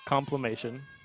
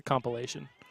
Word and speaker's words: compilation: Complimation. Yeah. It's not how you say it. Is it? It's a compilation.